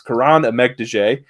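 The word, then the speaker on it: Kiran Amegadjie: of the channel you know Tyler struggles with pronunciations but it's Karan EG de uh the tackle from Yale a little bit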